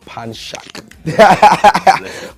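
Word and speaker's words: Panshak: my real name is panak I know it's hard to pronounce but pan Shak panak that's my real name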